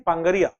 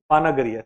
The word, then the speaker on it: Panagaria: हाँ, what is the pronunciation? Pangaria, Panagaria, Panagaria. Is it the correct pronunciation? कौन सा, कहाँ, किस एरिया का सरनेम है ये? नहीं, Panagaria.